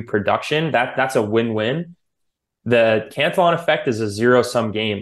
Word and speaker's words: Cantillon: And the Cantillon effect, I've heard it pronounced many different ways. I call it the Cantillon effect. Was it French, the guy, Cantillon? Yeah. So maybe I need to throw an accent on there.